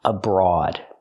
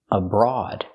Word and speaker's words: abroad: with this word abroad the first syllable is not stressed so we use awah abroad and the O A is special here it makes the a sound like on and off a a abroad and it's an adjective